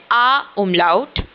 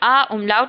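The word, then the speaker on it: Ä: अ उमलाउट। इसकी साउंड जो होती है वो ए की साउंड होती है।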